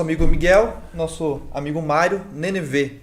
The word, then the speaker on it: Nenevê: Nosso amigo Miguel, nosso amigo Mário, Nenevê, é isso? Nenevê, pronunciei correto, né?